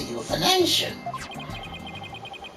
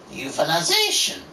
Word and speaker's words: euthanization: Yes, as a veterinarian, I am prepared to carry out a euthanation. Euthanization. Say it properly.